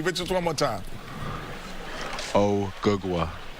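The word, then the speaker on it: Ogugua: My real name is Ougwa.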